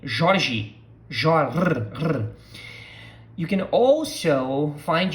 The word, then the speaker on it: Jorge: All right, so pronunciation of this name, Jorge, Jorge. You can also find yourself hearing Jorge, Jorge. Why? Because different parts of Brazil pronounce the R as you probably, if